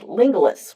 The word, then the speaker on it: Lingulis: found a gentleman named Lingulis, rhyming with Romulus.